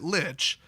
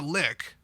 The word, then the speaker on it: lich: is in there now I would pronounce it Lich but a professional full-time live stream presenter who works at a fantasy gaming company black Rasmussen said that it's a lick so it's not a lich it's a lick my